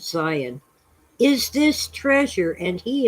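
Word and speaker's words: Sion: and to scion s-i-o-n we spell it with a z a zed but okay it's zion is this treasure and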